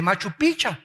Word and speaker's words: Machu Picchu: Vete al Perú y vas a ver las pirámides de Machu Picchu, o Picchu, no me acuerdo cómo se dice. Machu Picchu. Machu Picchu. Bueno, ustedes son peruanos. Yo soy mexicano.